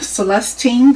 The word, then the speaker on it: Celestine: Celestine. Accent on the second syllable.